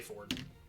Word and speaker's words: Fjord: It's spelled Fjord. But yeah, they say Ford.